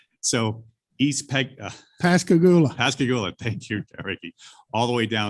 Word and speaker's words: Pascagoula: pilot program and apply it to the East Pegaloon. To the where? I'm sorry. It wasn't that you couldn't hear me, Chairman. It was I couldn't pronounce the bridge. All right. So East Pascagoula.